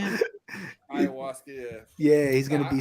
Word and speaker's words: ayahuasca: Ayahuasca, yeah.